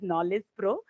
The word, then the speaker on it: Knowledge Pro: That's Actually, I pronounced it Nine Less Pro, but it is Knowledge Pro.